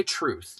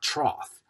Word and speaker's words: troth: So, say it right. And if you are dead set to mispronounce it, say by my truth, not troth.